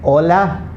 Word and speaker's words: hola: h my friends okay h is the only alphabet in the spanish language that's always completely silent it has no sound okay so never pronounce